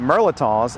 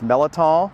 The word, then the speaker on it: mirliton: and horticulture heritage, and I pronounce it merliton, but you may pronounce it as melaton, militon, or vegetable pear, which is one of the other common names.